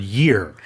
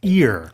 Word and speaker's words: year: Well, where it's really pronounced is the word year. Because a lot of non-native speakers will pronounce that as ear.